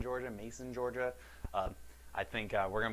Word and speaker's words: Macon: around here, right around Macon, I believe you pronounce it, Macon, Georgia, Mason, Georgia.